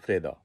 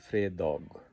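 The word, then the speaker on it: fredag: সো দ আমি যেমন ফ্রেদাগ বলছি, ফ্রেদা বলছি, এটা হলো সংক্ষেপে, চলতি ভাষায় আমরা একজন একজনের সাথে কথা বলতে সংক্ষেপে বলি ফ্রেদা, কিন্তু লিখতে গেলে এটাকে বলতে হবে ফ্রেদগ, ফ্রেদগ, ফ্রাইডে।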